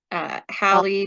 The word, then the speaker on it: Halley: is called halley's comet hallie pronounced like valley it should rhyme okay i got a little confused about that when i was younger because i thought there was one called haley's comet too and i